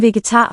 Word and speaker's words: vegetar: Jeg er ikke en vegetar, fordi jeg elsker kød. Nice rhythm and a nice melody. Jeg er ikke en vegetar, fordi jeg elsker kød. Vegetar is the first Vegetar. heavy syllable there.